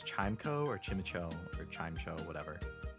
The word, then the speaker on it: Chimecho: Chimeco. According to James from the show. Well, you would like to think that in the show they're going to pronounce it correctly.